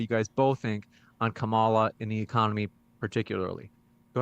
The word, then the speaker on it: Kamala: every time just say Kamala just say it it's easier to say Kamala Kamala doesn't even sound good comma flows right off the tongue just say it right